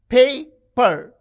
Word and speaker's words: paper: You can see the first syllable is stressed paper.